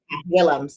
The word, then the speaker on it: Willems: did you say well is that how you pronounce that willems yeah thumbs okay cool and it's a unique